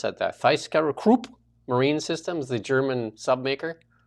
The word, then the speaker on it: ThyssenKrupp: That Thyskerup Marine Systems, the German submaker. How do you pronounce it? ThyssenKrupp Marine Systems.